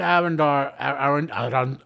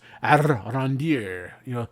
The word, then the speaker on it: Arondir: We open to Arendar. Let me pronounce the show. It's Arondir. They keep rolling the R's for some reason.